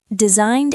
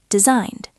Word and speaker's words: designed: Designed ends with an N sound, so the past tense is a soft D. Designed.